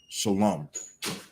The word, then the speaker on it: shalom: but he was saying even if it's spelled like that it's still pronounced shalom i'm gonna have to